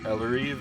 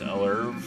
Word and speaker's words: Elleriv: This is Eller. Elleriv is how I say it. Eller could be pronounced erv.